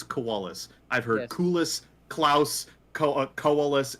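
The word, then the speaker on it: Kualus: koalas yeah i always thought it was like klaus but i guess koalas is how you pronounce it it's koalas because in i like i've heard so many different pronunciations but canonically it's koalas i've heard coolest klaus koalas it's it's i've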